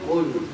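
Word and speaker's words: قُلْ: yang diminta firman Allah dengan huruf q bukan huruf dengan huruf kaf ya. Karena qala yaqulu qul itu artinya katakanlah. Kalau akala yau, qul makanlah. Ya, beda huruf, beda arti. Kita yang diminta oleh Allah adalah qo qof ya. Lul qul qul yang itu yang pertama. Q.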